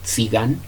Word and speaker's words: Tzigane: Entonces, la primera obra que escuchamos es Tzigán. Tzigán se escribe, se los voy a deletrear: T de Tito, Z y latina G A N E.